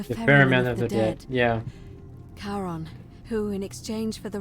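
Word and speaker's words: Charon: it's just as you described it only your pronunciation is a little off the name you heard wasn't Karen it was c h a r o n as in Caron the experiment of the Dead yeah karon who in exchange for the right coin helps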